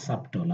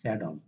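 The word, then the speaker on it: subtle: স্যাডল, এটার উচ্চারণটা এমন মনে হচ্ছে সাবটল, আসলে এটার উচ্চারণটা হচ্ছে স্যাডল।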